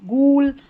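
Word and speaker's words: ghoul: इन्हीं में जी एच को ग पढ़ा जाता है। यहां पर जी एच की जी एच को ग की तरह बोलते हैं।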